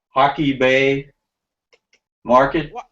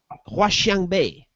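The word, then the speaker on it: 华强北: headed, and in the Hockey, how do you pronounce that? Hockey Bay Market. Huaxiang Bay.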